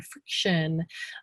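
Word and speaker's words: Frixion: Friction is spelled F-R-I-X-I-O-N, friction.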